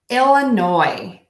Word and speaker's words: Illinois: in right now Illinois so no s on the end silent letter here so we're gonna say it'll like oh I'm feeling sick illa that may Shroff the level of middle and then end with Noi go ahead and make